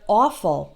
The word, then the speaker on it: awful: Or in the word awful, which means terrible, awful. There it's spelled A-W, but that's all the same vowel sound as in the word off.